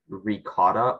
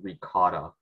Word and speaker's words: ricotta: alternate pronunciations uh yes it can either be ricotta or ricotta okay uh ricotta am